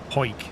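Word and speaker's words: Hawick: c k it's h a w i c pronounce what po poik po but it's spelled like how I think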